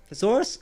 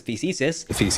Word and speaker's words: Theseus: starship by the way, the USS Theseus? Thesaurus? I don't know. Image on screen now, and maybe Troy can stick a pronunciation guide for that ship on screen as well, because 100k subscribers and we're still bad at pronouncing things. Just happened to have it on me, Theseus, but it seems to keep upsetting you.